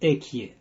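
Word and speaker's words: אהיה: We call it Ekia. And we don't pronounce Hey as we don't do with other names, holy names.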